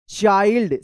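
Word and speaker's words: child: Believe this चाइल्ड सी एच आई एल डी चाइल्ड पढ़ेंगे इसको चिल्ड मत पढ़िएगा सी एच आई एल डी चाइल्ड is very चलिए इसको पढ़िए ये थोड़ा बड़ा है।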